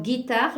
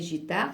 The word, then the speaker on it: guitare: E pour prononcer alors guitare là aussi si on ne met pas le U ça va se prononcer gitard il y a pas